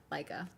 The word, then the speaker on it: Leica: Okay, first one was right. Pronounced like Leica. Leica.